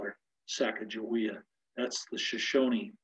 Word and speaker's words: Sacagawea: You can call her Sacagawea if you wish. I'm from Montana, so I call her Sacagawea. That's the Shoshone pronunciation.